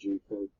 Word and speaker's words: JIFU: Now, I believe I've got everything there, the solution for you, with JIFU, pronounced JIFU, spelled J-I-F-U.